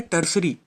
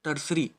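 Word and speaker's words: tertiary: Second है secondary और third है टर्सरी। इसको याद रखोगे, टर्सरी, है ना। इसकी जो स्पेलिंग है वो थोड़ी अलग है पर इसको जब पढ़ते हैं तो टर्सरी पढ़ते हैं।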